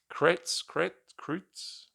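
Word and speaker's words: Kretz: finally I I missed uh the drummer Eric krates give my pronunciation might save it here correct I was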